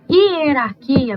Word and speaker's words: hierarquia: portuguesa também hierarquia bom hierarquia vocês vão lembrar da minha aula né de transcrição fonética quando eu não escuto esse h não tô escutando h eu tô como se